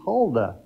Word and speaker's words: Huldah: you heard me right ladies her name is holda that's spelled h-u-l-d-a-h and she was raised up at